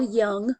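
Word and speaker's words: Jung: your Dropbox question Carl Young remember this is pronounced as if it's a y um split off from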